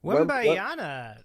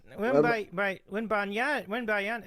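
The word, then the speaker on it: Wembanyama: And so how do you pronounce his name, Davey? Wembayana. Wembayana.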